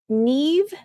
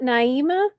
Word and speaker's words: Neve: In the Fraser Bone case, it's it's Neve, not Naima.